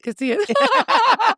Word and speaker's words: Casillas: Casillas, it's fine. I was like, it's silent.